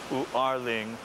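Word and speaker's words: 五二零: 520, when you pronounce it in Mandarin, is Wu-Er-Ling, which they say sounds like I love you or Wa Ai Ni.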